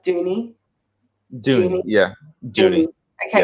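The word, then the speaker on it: Duny: pronounced junior yeah like dooney doing it yeah dude okay because it's it's spelt dunny yes yeah well in the show they pronounce it dooney so i'm pretty sure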